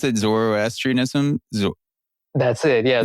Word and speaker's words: Zoroastrianism: How do you pronounce it? Zoroastrianism. That's it. Yeah, Zoroastrianism.